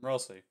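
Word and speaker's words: Ralsei: I'm Rosie. That's how you pronounce his name.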